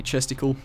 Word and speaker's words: chesticle: So we're going to need to place down a chesticle. Rhymes with testicle.